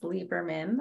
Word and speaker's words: Liberman: Okay, well, first of all, my name's pronounced Liberman.